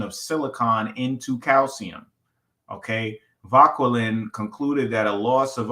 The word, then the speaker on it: Vauquelin: So in 1799, the French chemist Louis Vauquelin, probably Vauquelin, because he's French. You know, they pronounce it like nice and soft and fluffy and airy.